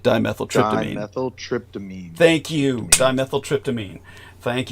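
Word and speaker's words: dimethyltryptamine: element uh the dimethyl tryptoline where am I pronouncing that correctly or is it more like dimethyl trp dimethyl tryptamine thank you dimethyl tryptamine thank you the DMT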